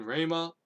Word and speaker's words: Ramah: And she held court under the palm of Deborah, between Ramah or Ramah It's totally pronounced Ramah.